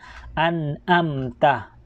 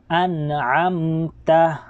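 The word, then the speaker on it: أنعمت: Yung dito po sa may an'amta, yung yung ain ay kinakailangan din po nating mabigkas ng tama ang ain. Kasi po minsan pag hindi natin kayang bigkasin yung letrang ito ay nagiging tunog naging tunog alif. Kaya minsan nababasa natin ng an'amta. So kinakailangan po mabigkas po natin ng malinaw ang ain. So kaya an'amta. Okay, an'amta.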